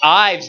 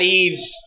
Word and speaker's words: Ives: a correction on Twitter it's Ives not Eaves pronunciation has never been